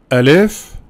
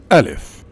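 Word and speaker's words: ألف: Alif. Alif is the first letter. Also, Alif is the name of this letter. So, this shape represents Alif. But the pronunciation and the spelling of this letter is Ah.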